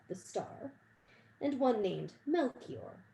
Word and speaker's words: Melchior: star and one named melchior rhymes with belle seymour perhaps there were others